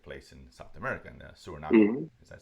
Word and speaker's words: Suriname: But no, actually, it does take place in South America, in Suriname.